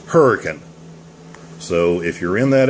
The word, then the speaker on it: Hurricane: grid map by the way this is not pronounced hurricane it's pronounced hurricane so if you're in that area say it